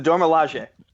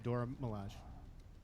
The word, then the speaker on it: Dora Milaje: the Dormelage. Yeah. Well, Dormelage, but yeah. I'm pronouncing it correctly. The Dora Milaje.